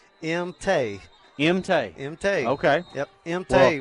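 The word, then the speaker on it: Maung: I'm going to probably mispronounce the name, but spelled M-A-U-N-G. Well, luckily I was down in the middle of senior night tonight, and that is M-Tay.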